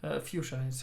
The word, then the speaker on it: fuchsia: you say was fucsia fuchsias how they pronounce it in English which is weird because they are not like not reading half of the letters that are there there you go so